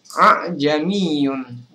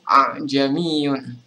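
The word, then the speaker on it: أَأَعْجَمِيٌّ: maksud dari kastil itu jadi hai abad tulisannya adalah aa jeni on tapi kita cukup membaca aa'jamiyyun jadi tidak perlu kita membaca hamzah dan membaca alif cukup baca satu saja yaitu aja myun nah itulah maksud dari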